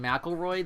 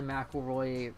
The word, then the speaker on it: McElroy: I'm still salty about the McElroy pronunciation because I am a MC last name too, and ours is Mick something, not Mac something, because there's no A.